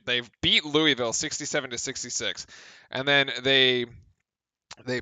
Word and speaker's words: Louisville: let him have it I love how you call it Louisville how what how else do you pronounce it Lewis it's not Lewisville I I live three